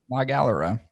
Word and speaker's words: La Galera: Dude, I think the bright color's just like La Galera. La Galera. That's how you would say it phonetically.